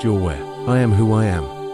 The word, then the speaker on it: Yahweh: burning bush Exodus 31415 the exact pronunciation of yhwh has been lost over time but scholars believe it was likly pronounced your where I am who I